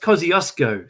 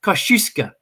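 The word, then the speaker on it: Kościuszko: from poland it's their surname and it's not pronounced kosciuszko so so pretty much everybody in australia says this wrong uh they say it the way it should be said in australia but in poland it's pronounced kosciuszko so it should be really pronounced mount kosciuszko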